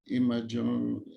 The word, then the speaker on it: imageomics: Imageomics. Imageomics. Like consider proteomics, imageomics.